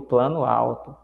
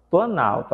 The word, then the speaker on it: Planalto: alta então virou Planalto não diga o plano alto Ok Então A ideia é essa Deep um plano é mas eu falo Planalto a gente disse escreve